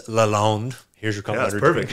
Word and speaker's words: Lalonde: It's Lalonde. Here's your complimentary. Yeah, perfect. Nice pronunciation.